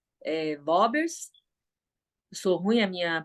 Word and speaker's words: Worms: Aí o edito de Worms, ou Vorbers, eles falam isso, né? Vorbers.